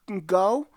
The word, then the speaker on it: Goo: I I think it's good so here we go um so we have 1990s um album CD hit uh called go um it's pronounced go o so it's like goo or I just Pro